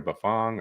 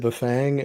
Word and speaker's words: Bafang: And do you say buffang or buffong or what's what's the right way to say that? For like a decade I said buffang and then I went to buffang and they all said buffong and I'm I've been